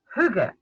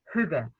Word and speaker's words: hygge: a native speaker so the closest i can come is hygge if you say you're close enough really that will be fine